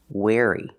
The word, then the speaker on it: wary: or bad for you wary pronunciation wey using the air sound like chair and hair air where where like where is my car or I wear clothes wear wary be wary of strangers